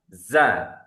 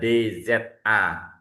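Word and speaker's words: ذال: Jadi bukan za. Jadi sekali lagi bukan za. Jadi bukan dalikal kitabula. Nah, ini salah ya. Memang tulisannya bentuknya ada D Z A zaal karena huruf aslinya huruf bacanya adalah zal tapi aslinya dza. Dza. Jadi enggak ada enggak ada zanya itu z bukan tapi dza. Dza ini versi tipisnya.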